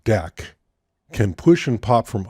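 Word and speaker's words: deque: they were inserted the double-ended Q object pronounced deck can push and pop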